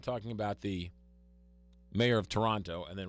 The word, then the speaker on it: Toronto: right now it's not Toronto it's Toronto they don't pronounce that t the torontonians don't oh really so it's